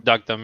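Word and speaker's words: Deokdam: Duckdom, yeah.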